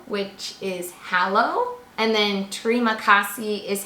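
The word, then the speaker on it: terima kasih: we learned hello which is hallo and then Tre makassi is how you say thank you additionally with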